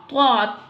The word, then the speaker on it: ط: طا. How will pronounce طا? طا pronunciation. Listen to me. طا. طا pronounced from the tip of the tongue touching the roots of the top two front teeth.